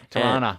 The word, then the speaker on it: Toronto: So I actually he just moved to Toronto. He's from Hong Kong, but he moved to Toronto. Toronto. You got to say it right. It's Toronto. Tirana. We don't say Toronto. We say Toronto.